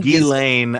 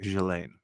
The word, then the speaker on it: Ghislaine: I would go to the classic Ghislaine. Oh, Ghislaine. Okay. Ghislaine. I mean, I think in France, that's how it would be said.